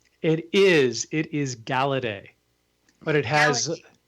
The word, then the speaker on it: Galaudet: It is It is Galedet, but it has It's French.